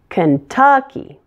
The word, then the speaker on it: Kentucky: AZ Kansas Kansas Kentucky the middle syllable is stressed in this one Kentucky Kentucky Louisiana like Indiana